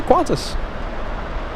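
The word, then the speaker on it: Qantas: We don't say Q A N T A S. We say Quantas.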